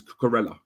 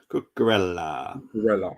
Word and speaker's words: Cucurella: Next one I'm going to go with, and I'm going to pronounce it right this time, is Cucurella. Cucurella, yes.